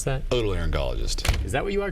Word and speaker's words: otolaryngologist: You're not an orthogalangologist. How do you pronounce that? Otolaryngologist.